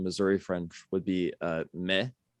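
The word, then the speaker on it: maïs: french would be uh me very similar to the english maze um in louisiana it would be pronounced uh miss by a lot of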